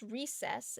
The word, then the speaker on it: Recess: Um we uh we have decided that it is called that it's pronounced recess. It's called so recess mood.